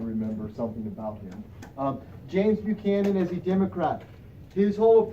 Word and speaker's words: Buchanan: 1856 James Buchanan and we pronounce it Buchanan not buck him in because I get that a lot do you mean James